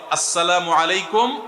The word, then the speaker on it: আসসালামু আলাইকুম: শুদ্ধভাবে সালামের উচ্চারণ বাড়ানোর জন্য শুদ্ধ করে সালাম দিতে হবে, আসসালামু আলাইকুম ওয়া রাহমাতুল্লাহ।